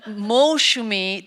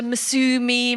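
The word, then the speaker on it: Moushumi: So with the Molshumi, it was the S. It was the problem with the S. They didn't put the H in, and so she turned into Masumi, Mausumi, you know.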